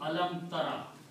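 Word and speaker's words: أَلَمْ تَرَ: So alam will remain there, ta will remain there, but alif and ya are weak letters. In the pronunciation they drop out just to make it easy. So this word will become alam tara.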